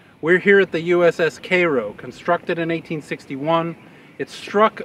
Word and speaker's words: Cairo: cities along the missis mississippi this is the k row which you might refer to as cairo if you see it but it's pronounced cairo now we're going to discuss the